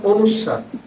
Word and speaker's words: অনুস্বার: এই চিহ্নের নাম অনুস্বার। সঠিক উচ্চারণে পড়াবেন।